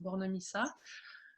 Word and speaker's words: Bornemisza: Donc moi, j'ai un nom un peu qui a l'air compliqué comme ça, mais en fait ça se prononce Bornemissa.